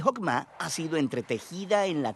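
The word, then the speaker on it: חכמה: Qué es esta fuerza en hebreo se pronuncia hokma y usualmente se traduce al español como sabiduría es un atributo de Dios que Dios usó para crear al mundo y hokma ha sido entretejida en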